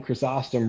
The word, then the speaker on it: Chrysostom: mine always would say John chrysostom rhymes with awesome I don't even care